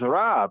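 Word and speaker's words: רב: So here he says, Rav. After that, he says, enough, nothing more. Rav, R-A-B, Rav. Sometimes pronounced in modern Hebrew as Rav.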